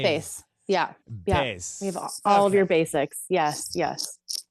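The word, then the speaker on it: Béis: of the luggage brand B B bass yeah bass all your Basics yes yes so there I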